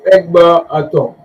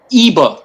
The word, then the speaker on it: Eber: Let me first start, Devon, by saying your pronunciation is a bit short. My name is EBER.